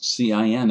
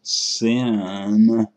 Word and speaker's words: cin: If you pronounce cin as sin, people might think you're trying to lead a church congregation instead of writing a C++ program.